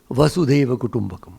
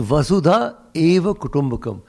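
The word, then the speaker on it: वसुधैव कुटुम्बकम्: the much uh quoted vasudeva except that everybody in delhi mispronounces it and thinks it has something to do with vasudeva krishna nothing to do with krishna it's a vasudha eva kotombakam the world itself is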